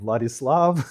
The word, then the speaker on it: Vladislav: may have heard called What is Love? Baby, don't hurt me. Don't hurt me no more. So this is usually how you can remember how to pronounce my name. Vladislav is that similar.